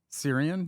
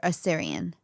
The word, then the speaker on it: Assyrian: Syrian? Yeah. No, Assyrian.